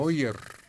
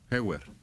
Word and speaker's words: Heuer: Hoyer. ¿Cómo Con se Heuer. pronuncia eso? Heuer.